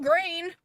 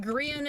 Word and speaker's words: Grian: Well, I mean, it's not grain. That's definitely incorrect. So, and that is the in Grian is the closest way, unless that is absolutely how it's pronounced, the closest way I've heard anybody say his name.